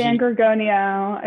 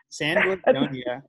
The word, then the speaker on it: San Gorgonio: San Gorgonio is how Gorgonia. I pronounce it. Wow, I was not even close. San Gorgonio.